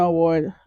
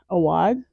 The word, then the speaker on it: Awad: Not Mona Award, Awad.